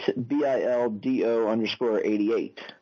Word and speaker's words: Bildo: That's at BILDO_88, which pronounced is Bildo_88. You said Bildo, not Dildo, right?